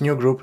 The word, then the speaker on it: newgrp: run one more command, which is new group docker, which is spelled newgrp.